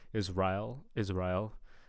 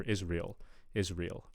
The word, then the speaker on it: Israel: Okay, so first thing on the pronunciation of Israel, I'm hearing Israel, almost kind of like an Israel kind of thing going on. Whereas, in standard American English, you'd expect to hear Israel, eel on the vowels.